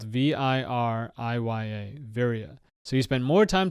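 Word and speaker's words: viriya: is called Viria this is a poly word it's spelled v-i-r-i-y-a Viria so you spend more time talking about very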